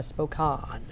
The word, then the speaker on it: Spokane: a niece that's in spoke on it's pronounced Bo call and I've no doubt I've kept in Spokane - no no Aunt Laura that's wrong yeah spoke on if she's listening yeah